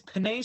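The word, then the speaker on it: Penei: Panay, it's Panay Sewell. Penny Panay Sewell. Sewell. The He got hell? Wait, I'm that. gonna go check his. Man, that's crazy, man. If they go for Panay, I think that, and if they draft a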